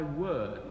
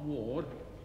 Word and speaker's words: word: "O establish thy word," it is, not ward.